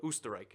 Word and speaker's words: Österreich: They speak German, and in German it's Österreich with the little O like that. So Österreich, I guess you could call it also.